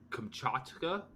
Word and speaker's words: Kamchatka: is the Gula camp in pronunciation correctly Kamchatka yeah p a little put a little Russian flare on there and you got it